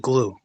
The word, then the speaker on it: Gloo: There's this company called GLOO called Glue. It's pronounced Glue.